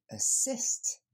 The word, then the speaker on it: assist: L'accent tonique tombe sur la deuxième syllabe. Assist. Le premier son, ça n'est pas un A, c'est le son E qu'on va entendre.